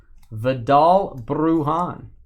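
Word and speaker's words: Vidal Bruján: Roll your R's. Vidal Brujan.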